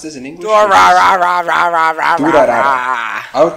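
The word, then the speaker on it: Durarara!!: Durarara. I would pronounce it Durarara.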